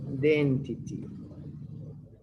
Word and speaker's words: identity: identity theft remember i identity the i is pronounced like the vowel i identity theft what can